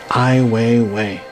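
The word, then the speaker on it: Ai Weiwei: through his art on the street okay then i way away it's spelt AI w e i want to get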